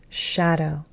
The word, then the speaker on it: shadow: So the A in shadow sounds like the A in hat. It's a short A sound. It's not the long A, and it's not that same sound that we had above, ah. It is ah.